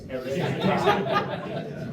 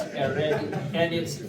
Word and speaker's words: hereditati: But it's not followed by a vowel, so it's hereditati. But it's, so therefore it's hereditati. And we don't pronounce any of the H's, so it's, that word is hereditati.